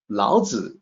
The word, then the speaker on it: Laozi: Laozi is the correct pronunciation, and it's written in a couple of different ways in accordance with the romanization system.